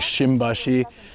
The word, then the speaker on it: Shimbashi: moo or something but to make an M sound within a word they put they often put an that and they pronounce this like shimbashi has like a kind of M sound.